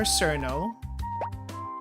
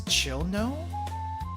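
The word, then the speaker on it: Cirno: I'll pronounce it the fandom way. Or at least how it looks phonetically.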